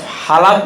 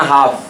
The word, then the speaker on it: half: HALF, হালাপ না হাফ, হাফ, মনে রাখ, এল উচ্চারণ হবে না।